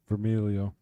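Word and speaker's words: Vermiglio: car show coming up with Joe vermigulo how'd you pronounce that name vermilio all right no G thank you all right Bill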